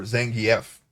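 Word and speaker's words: Zangief: actually you know what oh and zangi or zangi F apparently that's how you pronounced his name I've never really made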